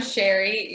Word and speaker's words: Sherry: I am Sherry. Yes, that's the correct pronunciation.